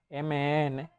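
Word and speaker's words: 们: El que puse en azul, carácter mem, se pronuncia mn, se convierte automáticamente en plural no, perdón, el pronombre que tengamos.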